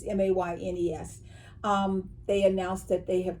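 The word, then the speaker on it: Moynes: that Katie Kirsten and Blake Mayonnaise, or Mayonnaise, he's Canadian. So it's all in the way that it's pronounced, but it's Maynes.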